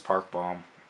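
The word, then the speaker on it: 박봄: those are oh I like those this is Park bomb you sure that's how you say yes I'm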